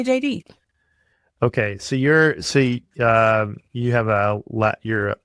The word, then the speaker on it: Jeiri: But it's but it's pronounced like the J and the D. Yeah, because it's in Spanish and you would roll your R's. So it's really not a D sound, but in English it sounds like a D. So my name is JD. And so people, the easiest way to get folks to understand how to say it is to be like, oh, well, just say JD.